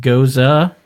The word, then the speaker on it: Gose: A geuze, pronounced goza, is a historically German refreshing wheat beer that is only slightly tart.